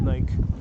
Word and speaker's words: Nike: Temple of Nike. Or Nike if you want to sound very American.